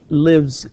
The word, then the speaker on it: lives: And he lives in Riyadh. Okay, he lives in Riyadh. لاحظ تكتب S ولكن تنطق Z.